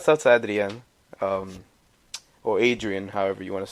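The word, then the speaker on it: Adrián: to the end or Adrian however you want to say I say I just say Audrey on because that's the the proper way to say theme but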